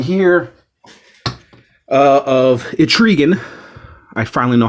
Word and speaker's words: Trigon: We'll go to another DC McFarlane fig right here of Trigon. I finally know how to pronounce his name. Trigon the Demon.